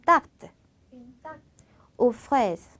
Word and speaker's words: tarte aux fraises: 자, 제가 발음을 tarte aux fraises라고 했어요. 그 발음 써는 거는 une tarte aux fraises라고 했지만 붙여서 말하면은 연음처럼 이렇게 자연스럽게 이어져서 une tarte aux fraises라는 발음이 됩니다.